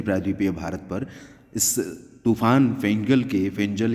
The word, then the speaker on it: Fengal: भारत पर इस तूफान फेंजल या फेंगल, जो भी इसका नाम आप समझें, क्योंकि FENGAL नाम है और FENJAL इसका प्रोनाउंसिएशन है।